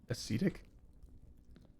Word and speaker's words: ascetic: Ascetic? I guess pronounced Yes, the long E.